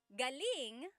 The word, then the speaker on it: galing: Galing means good or great. So if the emphasis is on the second syllable, galing that means good or great or excellent.